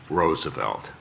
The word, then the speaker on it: Roosevelt: whose surnames American learn Americans learned to pronounce the Dutch way Roosevelt the young Calvin kulich